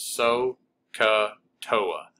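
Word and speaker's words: SOHCAHTOA: You kind of got silent H's, but you pronounce it so, ca, toa.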